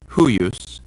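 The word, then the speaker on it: huius: Also, when the I is in between two other vowels later on in the word, it acts like a consonant too. So it's huyus and peyor.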